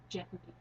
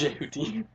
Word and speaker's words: Jehuti: I always thought it was Jehuti, but it's Jehuti, and they make it sounds so stilted when they're doing You actually take the dialogue. time to pronounce the Yeah, H.